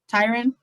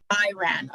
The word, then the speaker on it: Tyran: Tyran, like a tie and a ran. Tyran.